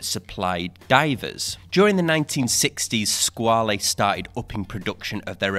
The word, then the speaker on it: Squale: name came from because this is the Italian pronunciation of the name now in 1974 squall a created their own brand the squall a brand became its own